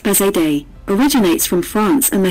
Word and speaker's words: Bazadaise: breeds bazaar days history the bazaar days pronounced bizet day originates from france and